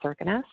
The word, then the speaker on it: Kirkenes: If we have Norwegians on this call here, I know I'm going to be mispronouncing some of these, but Kirkenes is actually pronounced Kirkenes.